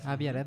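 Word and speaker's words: Avi Arad: que es Abi arad se pronuncia Abi arad el mismo güey que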